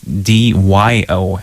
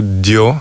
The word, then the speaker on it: Dyo: It's D-Y-O, as I saw. So that's sort of the Russianized version. So it's... in Russia, in Russian language, we don't have exact letters to pronounce this name. That's why it was transcribed into Dyo in Russian.